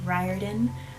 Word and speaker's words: Riordan: saying, nobody told me I was pronouncing his name wrong. Rick Riordan.